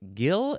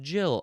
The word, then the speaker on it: Gill: But I'm guessing that that one came from this one because people saw the G and they were like Gil and you said no, it's pronounced Jill.